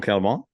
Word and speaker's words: Calment: You told the extraordinary story of Jean Calment. Did I pronounce that right?